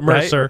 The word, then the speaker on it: MRSA: It's MRSA. MRSA, right? Mercer. Mercer. Right.